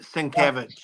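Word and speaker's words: Sienkiewicz: Moore and Bill sovic great series he he pronounces it svich svich yeah I mean the Art's amazing it's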